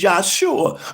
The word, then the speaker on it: Yahshua: face, and you would pronounce it the way it's pronounced originally, which is Yahshua, because it's only written in the characters of another language.